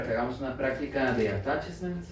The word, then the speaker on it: attachments: Esto les pid estos materiales para que hagamos una práctica de attachments o attaches. Esto se escribe attachments, pero también se dice attaches por ahí. Entonces, ataches son más guatemalteco.